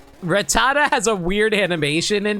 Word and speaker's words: Rattata: but probably not on Rattata. Speaking of Rattata, man, I always pronounce his name as Ratat as a kid. like ratat even though it's clearly rattata.